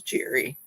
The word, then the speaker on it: Geri: My genre and my niche, correct pronunciation, Jerry.